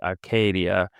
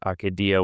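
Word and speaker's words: acedia: So I think that I must have learned the Latin pronunciation from him, and it's got a long A in the middle, so that would be Acadia.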